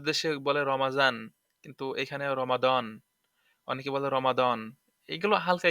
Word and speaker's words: রমাদান: ওই যে আরবিতে তো সদ সদ এই দ্বের উচ্চারণ অনেকে আবার জ করে যেমন অনেকে বলে রমাজান আমাদের দেশে বলে রমাজান কিন্তু এখানে রমাদান অনেকে বলে রমাদান এগুলো হালকা একটু মুখতালাফ আছে